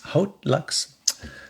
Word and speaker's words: Haute Luxe: an unboxing of uh odd Lux uh the odd Lux hot Lux hot Lux let's say it like a Frenchie Lux um and this